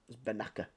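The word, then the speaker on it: Bennacer: Spell it wrong. It's Benacer, Benacer.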